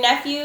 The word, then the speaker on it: nephew: There's that E-W making the U sound at the end.